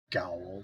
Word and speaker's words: gaol: If I ever spelled like disappear, that character does in Final Fantasy 14 GAOL. Gowl.